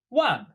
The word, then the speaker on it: 望: And it's pronounced the exact same as to forget.